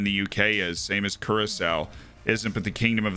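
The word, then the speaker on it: Curaçao: what's up max b i've been pronouncing it caracas all these years curacao yeah well being in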